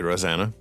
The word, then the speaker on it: Rosana: thing the same way again that is lovely rosanna yeah thank you hey how can people find